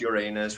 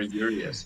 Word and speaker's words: Urias: I think that's how you say it, because like on stage they were saying like we're not Uranus, we're not Uraeus, we're Urias.